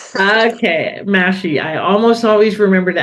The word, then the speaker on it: Mahshie: It's actually looks like Mashi with M A H S H I E, but it's Mashy. Think mashed potatoes. Okay. Mashy.